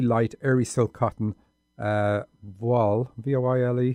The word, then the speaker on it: voile: They were made of really light, airy silk cotton, voile, V-O-I-L-E, how do you pronounce that?